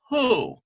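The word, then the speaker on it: הוא: it is the word who WH o sound transliterated we get hey which is an H sound goes to the next letter is Sharik which is you sound who ends with our left which is silent who means he or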